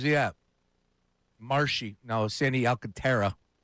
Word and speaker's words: Alcantara: Alcantara. Alcantra. Alcantara. How do you pronounce it? Alcantra.